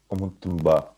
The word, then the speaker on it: Ұмыттың ба: It's pronounced as Umutumba. So basically, this is a question in Kazakh.